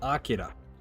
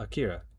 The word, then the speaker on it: Akira: Specifically Otome, the guy who worked on Akira. Now, I pronounce it as Akira because it's Akira, right?